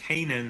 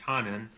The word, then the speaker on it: Hanen: By the way, Carolyn points out that it's actually Judge Haanen, not Judge Hanen.